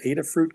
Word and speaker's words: Adafruit: For the electronics, you said it came from a company named Adafruit. Can you spell that?